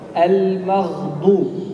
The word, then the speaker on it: المغضوب: Ya, makanya kata beliau harus diperjelas huruf gha ini mab, ya, kemudian setelah itu baru datang dengan huruf bad, ya, yang setelahnya. Walidhalik naqul al-maghdub. Al-maghdub.